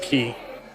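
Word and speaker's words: 木: For example, for the word tree, which is pronounced key, and the kanji basically evolves from what would have previously been a drawing of a tree, right?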